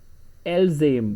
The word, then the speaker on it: elles aiment: Ils aiment, elles aiment, because ent is always silent in French.